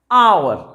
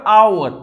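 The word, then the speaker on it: hour: अब यहाँ पर आवर, अब यहाँ पर ये H है आप देखिए, लेकिन इसके बाद ये O दिया हुआ है, ये H साइलेंट है, और इसकी ध्वनि आपके आ से निकल रही है।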